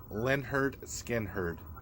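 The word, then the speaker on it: Lynyrd Skynyrd: And that's the very first Leonard Skinner. Pronounced Leonard Skinner.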